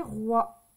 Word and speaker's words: rois: galette des espace roi attention ici il y a un S on ne l'entend pas mais c'est des rois d'accord donc on fait attention on oublie pas le S point aujourd'hui c'est